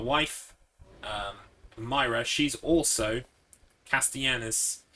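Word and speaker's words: Castellanos: um myra she's also castianus it's spelt like um it's it's spanish it's spelt like that but you pronounce it with a y so castianus castianus like that um sebastian castianus um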